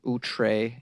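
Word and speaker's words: outré: She says, you got to listen 3 times before making any judgments about this hilarious, outre, and peculiar podcast. Did I say it correctly? Outre, O-U-T-R-E.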